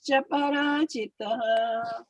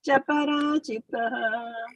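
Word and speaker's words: चापराजितः: If you join them together, Cāparājitaḥ. it cannot be cha. It will be cha. Cāparājitaḥ. Cāparājitaḥ, right? If you want to say cha, then you have to say aparājitaḥ, right? That's what we said a little while ago.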